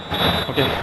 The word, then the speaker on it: Okai: Oke, gol keempatnya Donny van de Beek di La Liga. Juzabet. Okai. Ini namanya agak aneh sih, Okai gitu. Dibacanya oke.